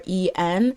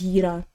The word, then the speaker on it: Yiren: her name is spelled Yiren, and I listened to her introductions over and over again, but I wanted to make sure it's like if it's Yi or E, I think it's Yiren.